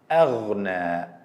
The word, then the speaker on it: أغنى: The Hamza is a light sound, never to be heavy. Some people make mistakes if Hamza preceded by one of the 7 heavy letters and they pronounce it as heavy. Same as in the word أغنى, أغنى. We don't say أغنى. It's light Hamza.